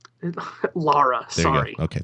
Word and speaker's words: Lara: You got to stop saying Laura. Lara, there sorry.